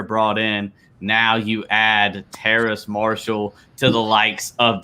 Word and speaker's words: Terrace: The Carolina Panthers select LSU wide receiver Terrence Marshall. Yeah, Terrace Marshall. Sorry, go which ahead. is I always pronounce it wrong because it I don't know, it's different.